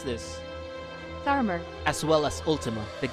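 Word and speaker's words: Tharmr: of Odin, the Warden of the Dark, Barnabas, Thamur. Hey Google, how do you pronounce this? Tharmer.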